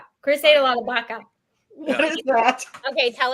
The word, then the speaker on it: vaca: Chris ate a lot of baka. What is that? Okay, tell us about it. It's just beef. Just beef. But so it's spelled VACA, but Yep. they pronounce it like With a B. Baka.